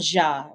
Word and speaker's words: Dia: in Denver and Colorado, Papa Dia or Papa Ja, which is the correct pronunciation because it's French.